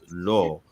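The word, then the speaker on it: לא: So it's pronounced lo because what's ascribed to the aleph is the cholam, right?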